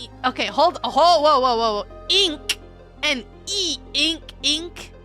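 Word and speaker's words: え: E is represented with the romanji as I, but it is pronounced E as an eek. With one minor exception. What exception? E is always pronounced like an E in the word sleep. It is written with 2 strokes.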